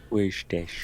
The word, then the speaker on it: Worcestershire: It has a mouth, which you can't see, and it shows what the mouth is doing on how to pronounce it. Worcestershire.